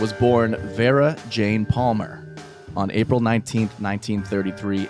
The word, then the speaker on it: Jayne: we go is that jane throws a y into her name yeah it's jane but with a y oh see that's when